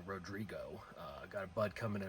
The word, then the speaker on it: Rodrigo: Got the Stellus Rotigroy, or Rodrigo, as I think I saw it actually pronounced, or the proper pronunciation of it being Rodrigo.